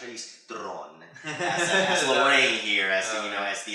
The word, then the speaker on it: Charlize Theron: We have Charlize Theron, or how she actually says it's pronounced, Charlize Theron, as Lorraine here, as the atomic blonde.